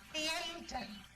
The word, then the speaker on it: Liaden: check the pronunciation. It's Liaden, is it?